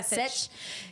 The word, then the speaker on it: Sech: I probably pronounced his name wrong. Is it Sech? It's like Sech. Yeah, Sech.